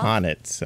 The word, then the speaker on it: H'aanit: Honnet. Okay, that's how you pronounce her name.